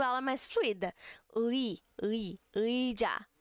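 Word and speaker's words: 의자: Ui, ui, ui, já, ui, sa.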